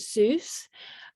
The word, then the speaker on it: Seuss: for seuss cake studio so you pronounce it zeus um seuss are a